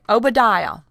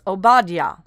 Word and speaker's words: Obadiah: Some say Obadiah. Some say Obadiah. It's pronounced Obadiah.